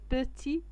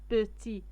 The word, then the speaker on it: petit: تي هنا بوتي ما كنطقوش هاد تي.